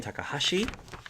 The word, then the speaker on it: Takahashi: So now we're going to move on to the in character questions where you get to role play as Anderson Takahashi. I believe is how you pronounce his name.